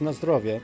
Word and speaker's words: na zdrowie: It's na zdrowie, which means like Na zdrowie.